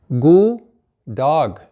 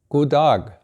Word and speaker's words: God dag: God dag. God dag. God dag. And the D here is silent, pronounced as if it were G-O-O. God dag.